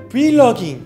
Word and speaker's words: vlogging: 왜냐면 영어로 브이로그 말할 때 그 V 발음을 그냥 그대로 V라고 합니다.